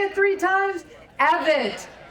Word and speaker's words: Evette: How do we pronounce my name? It is. That's right. It's Pamela Evit. Can we say it three times? Evit. Evette. Evette.